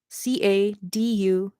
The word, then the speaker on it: Caduceus: Am I pronouncing that right? Caduceus. Cadesius. Cadesius? Catechus. Like, I feel like it's Latin. I don't know.